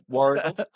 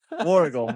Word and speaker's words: Warragul: ahead in Australia, and I think it's pronounced Warragul, maybe? I don't know. You have to pronounce it. Warragul. Warragul.